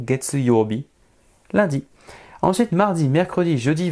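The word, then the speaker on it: 月曜日: Candy de la lune il va se prononcer gets donc get eurobi get euro get eurobi lundi ensuite mardi mercredi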